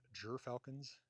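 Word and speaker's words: gyrfalcon: They could provide less economically lucrative Uh they provide jur falcons. That's how you say it in English. But it's called yakfal in Scandinavian.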